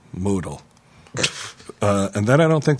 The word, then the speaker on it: modal: Note: modal is pronounced modal.